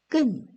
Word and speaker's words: 끊: 히읗은 소리가 나지 않습니다. 니은이 하나 있는 것과 소리가 같습니다. 만이고요. 니은 히읗도 얘처럼 만이라고 읽어줍니다. 자, 끄 밑에 니은이 하나 있어도 끈이고요. 끄 밑에 니은에 히읗이 있어도 끈이라고 있습니다. 읽어보겠습니다.